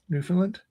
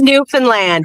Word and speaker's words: Newfoundland: They have internet in Newfoundland? Just kidding. Oh, it's pronounced Newfoundland, Adam.